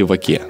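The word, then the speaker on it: ვაკე: в районе под названием Ваке или Ваке. Я не понял, как правильно, и спросил об этом Веронику. Ну, слушай, в грузинском языке нет ударений, поэтому правильно говорить ваке.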